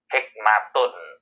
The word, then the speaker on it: hikmah: Arab atau bahasa Al-Quran, pengucapan akhir kata dengan tak marbutoh ini bisa T dalam bahasa Indonesia ya, atau bisa H dalam bahasa Indonesia. Jadi hikmat dan hikmah itu asal usulnya sama. Hikmatun.